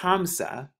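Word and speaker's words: خمسة: five would be pronounced kamasha in arabic it's pronounced hamsa number seven is shabba ah in the ancient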